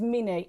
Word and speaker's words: Mni: the way here is the way you say it is mini as in Minnie Mouse meanie we shown me